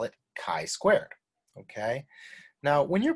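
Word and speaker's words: chi-squared: could come up and i don't want you to say chi squared and people don't know what you're talking about you want to keep that communication as effective as possible so let's try it together chi squared all right so why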